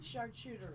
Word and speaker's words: Charcuterie: Charcuterie.